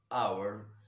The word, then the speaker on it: hour: h o g r hour so when you know this h is silent this h is silent